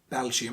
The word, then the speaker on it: Belgium: for example nepal or you don't have to say belgium that is on the first syllable no you don't have to say belgium you can just keep saying belgium that's perfectly right but